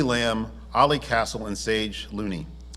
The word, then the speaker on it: Loney: Ollie Castle, and Sage Loney. Did I spell it wrong? Yeah, it's Loney though.